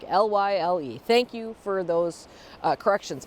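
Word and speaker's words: Lisle: And the other one is the place for the city name of where the Morton Arboretum is just pronounced Lyle, like Lyle.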